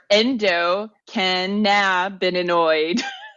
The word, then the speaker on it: endocannabinoid: Your endocannabinoid. Nope, I still threw an extra syllable in there.